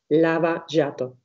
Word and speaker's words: Lava Jato: Por ejemplo, ¿qué era o qué es la operación Lava Jato? ¿Lo dije bien? Claro, lo pronunciaste perfecto.